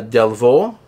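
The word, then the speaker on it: Delvaux: I pronounce it properly it's French uh delvo delvo delvo or delvo is how you pronounce that it is a uh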